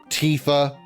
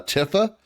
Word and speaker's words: Tifa: thought it was uh Tifa because I thought it was like a shortened version of Tiffany. I I didn't know that it was actually just pronounced Tifa until I played or until I watched uh Advent Children.